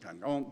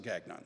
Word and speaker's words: Gagnon: And he says, "Well, if we were French, we would pronounce it Gong, but we just pronounce it Gagnon."